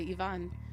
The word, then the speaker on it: Ivan: me I don't know eyes are pronounced as ease unlike in American I guess other places you don't say Ivan you say Yvonne I'm sorry this happened